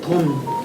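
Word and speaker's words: 遯: 그래서 내가 이거 돈이라니까 하니까 그러니까 아니 지적 고맙습니다 해놓고 나서 또 둔이라고 읽더라고. 그거 참 그거. 그러면 선생님 이게 주역에서만 돈.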